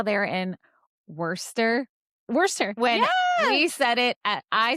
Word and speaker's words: Worcester: Worcester. When Yeah. I said it as Worcester.